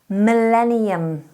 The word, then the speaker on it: millennium: the 15th word is millennium millennium make sure you're getting that tongue tip up up up onto the roof of the mouth for the l mill millennium millennium is